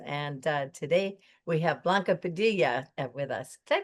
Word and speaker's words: Blanca Padilla: And uh today we have Blanca Padilla with us. Did I pronounce that right?